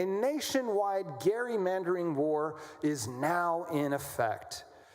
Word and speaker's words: gerrymandering: I was learned I learned how to pronounce that correctly. Is is uh the legislator from Massachusetts who uh gave rise to the word gerrymandering, which is how we say it. His name was Gary. So gerrymandering, a nationwide gerrymandering war